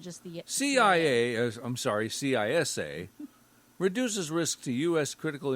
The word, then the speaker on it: CISA: infrastructure Security Agency boy that's a bunch of syllables yeah but look at the it's cisa uhhuh They just added an S to the